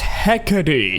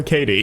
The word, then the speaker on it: Hecate: Apparently, her name's pronounced Hecade. And it's also very mad at the fact that people are calling her Katie.